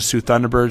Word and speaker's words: Soo Thunderbirds: But I think I give the edge to Soo Thunderbirds is the proper way to say it. Yep.